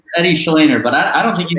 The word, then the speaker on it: Shleyner: Eddie Shleyner, but I don't think you can butcher anything with that intro, man.